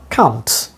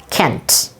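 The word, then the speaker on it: can't: In British pronunciation, it should be pronounced like this: kɑnt. I'm telling again, kɑnt. Long sound has been used here. Ka sound and a sound, then na, then ta. Kɑnt. But in North American pronunciation is kænt.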